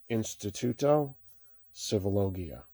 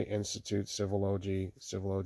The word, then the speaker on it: Instituto Civilogia: That's how you pronounce it. Sometimes people want to say Institute Civilogy Institute, but the really proper name and title on the project and the organization is Instituto Civilogia.